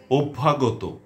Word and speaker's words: অভ্যাগত: তো আরও বলছি, বন্যা, অধ্যক্ষ, অভ্যাগত, কথ্য, পথ্য, সত্য, সন্ধ্যা, শয্যা, তথ্য, লভ্য, শল্য, ধন্য ইত্যাদি।